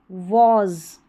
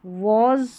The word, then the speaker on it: was: एंड वॉज, वॉज पढ़ना है, वाज नहीं पढ़ेंगे, वॉज।